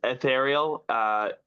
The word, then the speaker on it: Aethaireal: It's ethereal. It's spelled for you AETHA. Oh my goodness, AETHAIREAL.